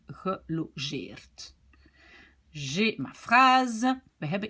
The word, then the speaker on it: gelogeerd: Et logeren, ici ce n'est plus une syllabe ouverte, je dois dire gelogeerd.